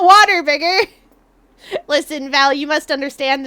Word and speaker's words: Whataburger: Hey, you're getting Waterburger tonight. I still can't believe that's pronounced like that.